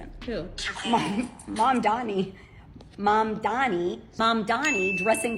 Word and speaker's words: Mamdani: and furthermore, the name is Mom Donnie. M A M D.